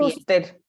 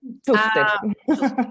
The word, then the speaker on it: Schuster: Schuster, como si no tuviera la S, léelo. Schuster.